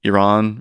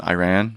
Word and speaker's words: Iran: suggesting Iran rather than Iran, right?